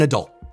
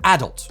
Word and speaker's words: adult: You see, in America, once you're no longer a child, you're an adult. Easy. In the UK, though, you're an adult.